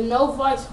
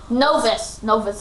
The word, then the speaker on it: Novus: The Novice Water, level 1. Novus. It's pronounced Novus. I keep on saying Novice.